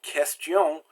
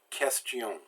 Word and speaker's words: question: QU is pronounced like K. So words like qualité and question, you don't do a qua sound, you do a k sound. Qualité, question.